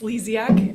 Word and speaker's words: Lesiak: It's Lesiak. It's Lesiak. okay. It's not pronounced how it's spelled, but that's okay.